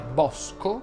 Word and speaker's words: bosco: Ho usato la parola bosco, che va pronunciata con la O aperta.